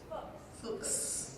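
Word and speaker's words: Fulks: Robert Gibson Ruth fukes do we not say it right Ruth that was the safe way it's FS FS gotcha nothing like being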